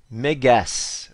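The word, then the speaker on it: μέγας: Mais regardez une des significations qui peut être vraiment attribuée à ce mot-là ici qui se prononce Mégas, ok?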